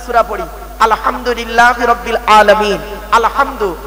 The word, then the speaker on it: আলহামদু: পড়ি আলহামদুলিল্লাহি রাব্বিল আলামিন আলহামদু এ গলার ভেতর থেকে এটা উচ্চারণ করবে আলহামদু মানে হচ্ছে সমস্ত